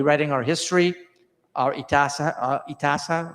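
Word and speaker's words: इतिहास: in our history, our itasa, how you pronounce that? Itihasa, right? Itihas.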